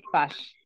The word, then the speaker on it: page: Se escribe igual que en inglés, pero no vayan a decir page. Se dice page.